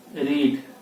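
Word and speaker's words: read: रीड, रीड का क्या हो जाता है? देखो, लिखाता है रीड बट पढ़ा क्या जाता है? रेड। ठीक है ना। V2 क्या होगा? रेड। प्रोनाउंसिएशन क्या होगा? रेड, लेकिन लिखा क्या जाएगा? रीड।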